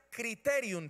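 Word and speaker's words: κριτήριον: El primer tribunal del que se habla y a que se refiere la Biblia es un tribunal que en griego se pronuncia criterium, con K, criterium.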